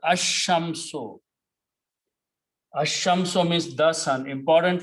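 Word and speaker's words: الشمس: So lam's sound will be killed and sheen will be pronounced together. Ashamso.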